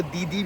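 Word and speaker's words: DiDi: Like मेरी जो ये मेट्रो राइड होगी, और मैं डीडी ऐप जो है इनका, मेरे को पता है मैं डीडी उसे वो दीदी भी बोल सकते हैं उसे, पर नहीं, डीडी is just more comfortable pronunciation में।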